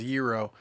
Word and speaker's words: gyro: saying you get it it's actually pronounced euro you get a gyro